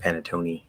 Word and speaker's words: panettone: be guessing um because that seems like a silent e based on english spelling patterns but apparently according to the dictionary that you're supposed to see e at the end panettone so i don't know